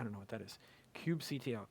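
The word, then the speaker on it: kubectl: cubectl, cube control, uh, or or cubby kit as I pronounce it.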